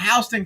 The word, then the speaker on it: Houston: the country 34th floor City Houston Texas but Houston Houston County Georgia is they call it Houston County and uh yeah you're